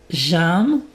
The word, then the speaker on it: j'aime: J'aime. Donc la prononciation est importante. Donc c'est un tu écris aim mais tu prononces ça comme un un e accent grave.